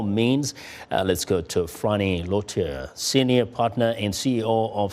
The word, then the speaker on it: Leautier: what this all means let's go to frani Lota senior partner and CEO of Southbridge Southbridge Investments